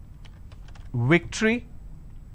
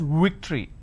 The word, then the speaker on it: victory: the word which is victory they pronounce this as victory now remember what i said if you have the letter v you need to bite your lower lip it's victory and if it's w you